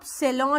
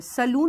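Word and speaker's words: salon: आप सेलौ जाते हैं, सेलूून नहीं जाते।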